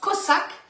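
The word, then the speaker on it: חזק: Ça s'écrit C-H-A-Z-A-K, ça se prononce Kozak.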